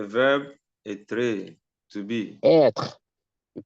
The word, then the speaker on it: être: Être. You pronounce it être.